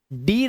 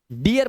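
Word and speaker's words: dear: डीर नहीं पढ़ेंगे इसे। डियर पढ़ेंगे।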